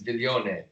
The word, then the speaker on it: Viglione: And Viglione, I love to say that. Viglione. Is that Italian? It is Italian. You pronounce it very nice. That's the American. The Italian pronunciation is very soft. It's Viglione, which I learned on